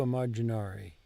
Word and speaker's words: immaginare: Voglio immaginare. Lo voglio immaginare. Non lo voglio immaginare. Non voglio immaginare. Immaginare. Non voglio. Good. To imagine. Now, imagine has two M's in Italian, and you will pronounce those both.